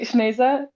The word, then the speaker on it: Sneza: And to you, I don't know, it's Sneza. I don't know how to pronounce your name. I'm so sorry, but you both had amazing Asia rhymes with poetry. Asia. Okay, Sneza. Rhymes with Asia.